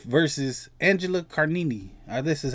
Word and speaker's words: Angela Carini: This is Imane Khelif versus Angela Carini.